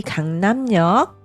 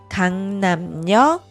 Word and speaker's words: 강남역: Aqui, 강남역, pronunciar como 역.